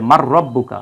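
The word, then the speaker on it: مَن رَبُّكُم: ইদগাম হয়ে যায় তখন নুন সাকিনের পরে র আসলে এজন্য এটার উপর একটা তাসদিদ দিয়ে একসাথে উচ্চারণ করা হয় যে মার রব্বুকা আসলে শব্দটা কি মান রাব্বুকা এটা একসাথে পড়া হয় মার রাব্বুকা যাই হোক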